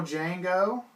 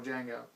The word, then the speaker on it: Django: actually tells him that the d is silent he's telling that to the original django so and just a